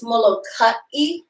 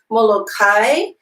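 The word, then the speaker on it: Molokaʻi: note about pronunciation right it's mo low-cut e as opposed to Molokai we have our Akina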